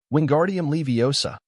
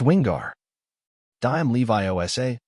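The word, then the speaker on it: Wingardium Leviosa: having much more luck wingardium leosa he shouted waving his long arms like a windmill you're saying it wrong Harry heard Herm snap it's wingar D Levi Osa make the gar nice and long you do it then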